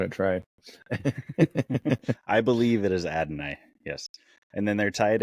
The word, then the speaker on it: Adonai: a rookie red receiver I'm gonna try to pronounce his name Adonia Mitchell oh Adonai Mitchell Adam okay I'm you said it right I'm not GNA try I believe it is Adonai yes and then they're tied end their starter